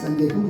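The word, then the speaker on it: சந்தேகம்: Sandeham is written as Chandeham. Chandekam. Really. What is pronounced as Sandeham, which means doubt.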